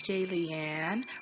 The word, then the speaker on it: Jaliane: ado let's get started hey it's j leanne rhymes with alien like if you're a fan comment and subscribe hello my name is jalien and hopefully you saw